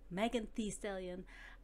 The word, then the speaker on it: Megan Thee Stallion: with making thee stallion i learned how to pronounce her name by watching other people say her name megan t stallion i like it even more i think ah